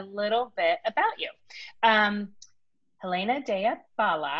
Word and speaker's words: Helena Dea Bala: bit about you um helena daya bala am i saying it right good yeah lisa gave me a